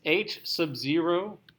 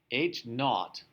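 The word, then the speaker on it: H₀: This H sub 0, which is pronounced, not H sub 0, H naught.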